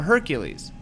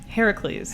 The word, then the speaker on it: Heracles: Hercules would be, you get that C right away. H-E-R-C. Herc. Oh. This is Heracles, so H-E-R-A. Oh, Hera- Yeah. Oh, that's the difference.